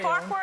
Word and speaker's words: Farquhar: Is it Farquhar? Am I pronouncing You're pronouncing it perfect.